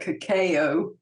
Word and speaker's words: cacao: How did you pronounce it? I call it cacao.